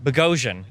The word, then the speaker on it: Boghossian: I'm like, Peter Boghossian, I think. You never say your last name. Yeah, it rhymes with explosion, Boghossian explosion. Boghossian.